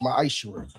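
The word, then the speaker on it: מעשר: Means 10th in Hebrew, and it's pronounced ma'ashur.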